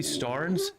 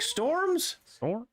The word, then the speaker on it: Starnes: my name's starnes and they're like storms no stars s-t-a-r-n-e-s star nintendo entertainment system and they're like yeah